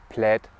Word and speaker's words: Plaid: auch der merkwürdige Beiname plädt plate ist Englisch bedeutet zu viel wie Caro Muster und wird tatsächlich plätt ausgesprochen der Name kommt aus